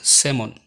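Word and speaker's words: salmon: এই শব্দগুলোর এল সবসময় সাইলেন্ট থাকে, যেমন কাফ, হাফ, সাভ, বাম, খাম, পাম, চক, টক, walk, code, should, would, colonel, folk, yoke, Lincoln, আমন্ড, সেমন।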